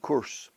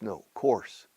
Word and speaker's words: course: ago in the 1990s he said curse says no no Juan Carlos curse no course and he always had